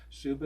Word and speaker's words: Suba: Like I say, Suba is S-U-B-A. It rhymes with tuba in Cuba.